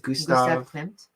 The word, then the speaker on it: Gustav Klimt: And how do you pronounce this? Gustav Gustav Klimt.